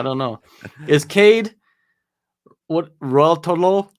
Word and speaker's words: Ruotolo: Is Cade what Raltolo? Is that how you say it? Raltolo? It sounds like the chocolate. Rolos. Ruotolo.